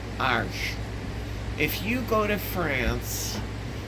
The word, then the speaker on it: Arches: That is not pronounced Arches. It's made in France. They started in 1492 when Columbus sailed, and I believe they're still making it the same way. It's pronounced Arches. Arches.